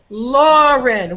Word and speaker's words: Lauren: lauren isn't it yeah so lauren which syllable is stressed that's right the first syllable and nasrat which syllable